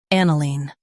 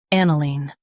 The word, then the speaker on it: aniline: an i line aniline Stress an and keep i-line light. an i line aniline Practice repeatedly and you'll soon be able to say this word perfectly.